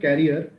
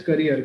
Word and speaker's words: career: been Deep River then the pronunciation of career is it is not carer it is career carrier is what is behind a bicycle I belong from it